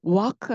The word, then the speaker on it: walk: 근데 걷는 거에 walk에는 L 발음이 없습니다. 사운드가 없어요. 그래서 walk 이렇게 하시면 돼요.